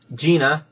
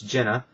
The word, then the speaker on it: Jenna: It was just an email here on YouTube, which um griped because they said, "Hey, it's my name is not um Gina, it's Jenna."